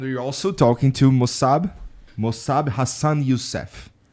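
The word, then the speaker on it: Mosab Hassan Yousef: also talking to mosab mosab Hassan yusf right did I say it right yes you got it okay uh you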